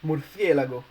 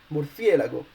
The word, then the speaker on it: murciélago: So in this case, if you don't put any accent above the E, the word should be pronounced murciélago, and the word in Spanish is not pronounced murciélago, it's pronounced murciélago. So you need an accent above the E.